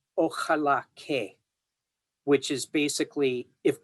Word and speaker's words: ojalá: So the X was originally an SH sound, then it became an H sound.